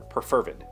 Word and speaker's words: perfervid: Perfervid. P-E-R-F-E-R-V-I-D. That is a freaking great word, and I've never heard it. And according to this pronunciation key, the emphasis is on fur, so perfervid.